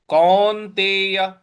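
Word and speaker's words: कौन्तेय: तेय तू कौन तेय क पर औ की मात्रा है और न पर हमको आघात देना है कौन तेय उसके बाद अगला पद है वैरागण वैराग ग पर हमको आघात देना है।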